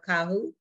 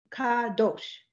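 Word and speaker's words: קדוש: Kahu. Kadosh.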